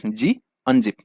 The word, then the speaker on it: gunzip: It's not gunzip, it's g unzip.